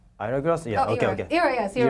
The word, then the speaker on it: Ira Glass: Like, is that, am I pronouncing it right? Yeah. Hourglass? Ira Glass?